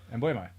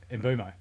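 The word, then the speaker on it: Mbeumo: Mbumo. Yeah. That's not how you say his name. Mbumo.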